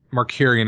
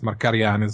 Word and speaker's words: Markarian: way sure i mean mercurian is an english english-sized pronunciation i think it's marcarian you know okay you